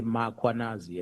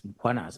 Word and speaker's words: Mkhwanazi: them to pronounce muanaz, they will put an a after m. They'll say muanazi and there's no a is muanas.